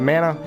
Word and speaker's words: Mana: So sometimes I'll say Mana because that's how I used to say it as a kid. And, you know, all the way up until just recently when I realized it's pronounced Mana.